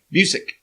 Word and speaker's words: Busiek: Kurt, how do you say the last name? Kurt Busiek? Busiek. Mm-hmm. Yes.